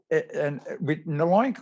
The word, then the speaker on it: LOINC: They say LOINC rhymes with oink.